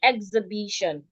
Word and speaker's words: exhibition: We're stressing the B, exhibition.